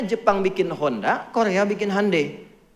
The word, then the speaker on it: Hyundai: Makanya Jepang bikin Honda, Korea bikin Hyundai. Betul, Hyundai itu pengucapannya, Hyundai tulisannya. Ya.